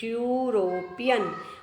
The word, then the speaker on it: European: When you will pronunciate it, you will speak European. Okay, E is silent here, so it will start with U.